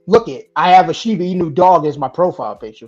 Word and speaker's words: Shiba Inu: And is the Shibu Inu? How do you say that? Shiba Inu? Shiba Inu.